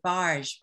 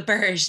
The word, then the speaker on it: Burj: about to really embarrass myself, how do you pronounce it, barge the Burj, thank you, Burj Khalifa, yeah.